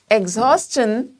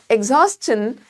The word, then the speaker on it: exhaustion: That these words which are ending with S-T-I-O-N, we are going to use chun sound while pronouncing them, but we are not going to produce shun sound.